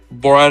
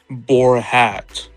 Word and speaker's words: Borat: be, starting from one, Borat himself, two, his sister, and three. Who would be a? Oh yeah, that one news reporter who mispronounced Borat's name as Borhat.